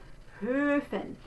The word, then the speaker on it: Höfen: It is the closed O, for Höfen.